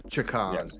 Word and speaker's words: Chakan: We can't speak to Rack in this one, so we have to go with your one, which is Chakan. Yes. Not Jackademus and Pliers, not Chakan, right.